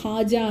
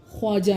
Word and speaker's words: خواجہ: اب یہ خواجہ ہے, خواجہ نہیں ہے, اس میں واو بالکل پروناؤنس, آپ سمجھیں گے یہ سائلنٹ ہے.